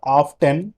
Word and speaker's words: often: That is not often. This is often. T is silent there.